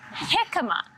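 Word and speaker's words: jícama: One option is something called hikima, spelled with a J. So hikima, you would just peel it the same way you would a potato.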